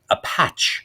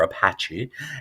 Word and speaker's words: apache: I know that's how they pronounce it in France. Apache or Apache, and that is a pimp in French culture.